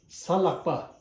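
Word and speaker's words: གཟའ་ལྷག་པ: You have to pronounce la and ha at the same time. La hata la ga lak pa salakpa.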